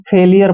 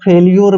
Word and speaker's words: failure: कई बार हम इसको फेलियर पढ़ते हैं। क्या पढ़ते हैं? फेलियर। कई बार फेल्यूर भी पढ़ते हैं, लेकिन फेल्यूर यहाँ पर सही नहीं है, यहाँ पर इसको हम फेलियर पढ़ते हैं, ये ध्यान रखना है, फेलियर, ठीक है ना।